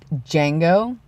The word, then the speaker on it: Django: the movie Django Unchained there's actually a D in front of it and my friend actually has a dog named Jango and they didn't know how to say it like her their dad didn't know how to say it or someone didn't have to say and they kept calling him - Django and he is kind of silent it's it's it's not